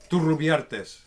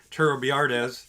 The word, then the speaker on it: Turrubiartes: well, I mean, you got to roll the R's. I mean, I can say it like a white guy and just be Turrubiartes.